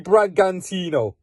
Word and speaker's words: Bragantino: RB Bragantino.